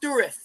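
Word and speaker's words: Dourif: It's actually pronounced Durith.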